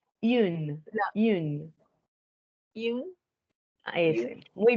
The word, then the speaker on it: une: ¿Cómo es que se pronuncia en femenino? Une.